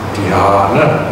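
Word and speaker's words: dhyāna: And the Sanskrit word is dhyana. Notice there's a long vowel. The first vowel is long.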